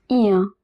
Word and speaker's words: bien: Eh bien, bien, remember I-E-N at the end of a word is pronounced as bien.